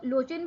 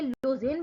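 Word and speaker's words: Luzhin: ल्यूजिन जो है इसको लोचिन भी पढ़ेंगे, लोजिन भी पढ़ेंगे, क्योंकि ये रशियन नेम्स हैं तो इनकी प्रोनाउंसिएशन थोड़ी सी हमसे पाकिस्तान के लहजे से थोड़ी डिफरेंट हो सकती है, तो so don't mind about them.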